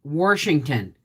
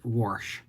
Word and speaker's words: Washington: you say process um i used to say washington my mother-in-law says warsh um and it drives me bat [ __